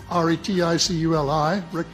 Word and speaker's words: Reticuli: And I have in here zeta reticul re ti cu l i reticuli.